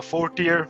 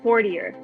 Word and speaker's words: Fortior: we pronounce this blockchain's name yeah so uh fourth year blockchain is how you pronounce it and it's a blockchain yeah blockchain uh infrastructure development company currently working on the algorithm blockchain awesome so wait 40 years did i say that right four deer fourth